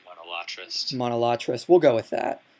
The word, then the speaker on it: monolatrist: that to be a monolaterist. I'm sorry, I'm pronouncing that wrong. I pronounce words wrong all the time, but I say monolatrist.